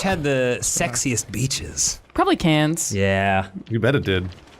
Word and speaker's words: Cairns: Wait, she means Cairns, Yeah. not cans. Karen? Well, I mean, I think how she pronounces it is probably how it's pronounced. I disagree. Oh. Okay, fair enough. It's got an R in it, Australians.